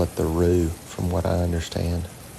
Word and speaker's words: roux: There's a lot of silent letters and all these fancy cooking terms. There's an X in both mirepoix and roux, and I don't hear any X anywhere in it.